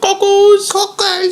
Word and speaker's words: cockles: Yeah, I just think it's funny she doesn't pronounce the middle syllable of any word she's ever said in her life.